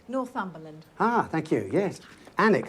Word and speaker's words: Alnwick: Alnwick, that's how you pronounce that, is it?